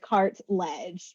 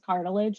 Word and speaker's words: Cartledge: loud I know yeah it's like literally how it's spelled like cart ledge people always call me Mrs cartilage though so wow cartilage